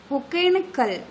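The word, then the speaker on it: Hogenakkal: Okkenakkal waterfalls is located in Tharmaburi and the river Kaveri. Okay, Okkenakkal. Spell it with me, students.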